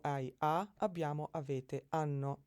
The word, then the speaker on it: hanno: O, hai, ha, abbiamo, avete, hanno. Remember that the H, when it begins a word, is not pronounced.